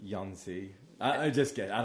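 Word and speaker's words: Jónsi: Jonzi. It's J O N S I. And they're Icelandic, right? Like Yonzi.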